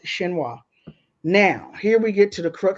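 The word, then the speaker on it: Xinhua: China's State Wire service I believe that's pronounced shinoa now here we get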